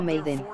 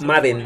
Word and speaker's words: Madden: ¿Se pronuncia Madden o Maiden? Madden, no, Maiden es Maiden es la banda y es la dama. Es Madden, así como suena, Madden.